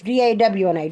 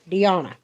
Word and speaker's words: Dawna: My daughter's name, my name's D-A-W-N-A, Dawna. Hers is D-E-Y-A-W-N-A, Dawna. She said it's spelled how it sounds, Dawna.